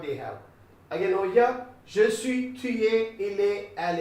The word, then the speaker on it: je suis: Je suis. You should not pronounce this S. Don't say je suis. It will be I Switzerland, something like.